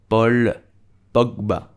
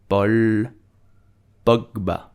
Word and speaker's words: Paul Pogba: name we would say paul pogba paul pogba so in french a u make the sound o paul pogba did you